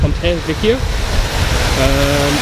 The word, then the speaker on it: Ponte Vecchio: Heading to Ponte Vecchio, I think is how it's pronounced, Ponte Vecchio, which is just over there on our right, the big famous building in Florence.